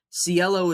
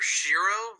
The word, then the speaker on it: Cielo: Before, I'm sorry to interrupt, but how do you pronounce it? Because for me, I call her Shiro, like Shiro, because Sheer, that's how they say it sheer. in the show, and I feel like I, for me at least I, that makes sense. I say it both ways. I'm used to saying it Cielo, but Shiro, Ciel, I don't even know.